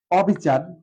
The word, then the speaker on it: অবিচার: কারণ হচ্ছে বিচার হচ্ছে একটা পজিটিভ শব্দ, আর অবিচার হচ্ছে একটা নেগেটিভ শব্দ, সেজন্য অবিচার।